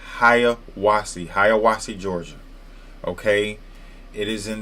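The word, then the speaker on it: Hiawassee: Some people that are not from here may just not know how to pronounce. It's not Hawaii. It's not Hawasi. It's Haya. Hayawasi, Georgia.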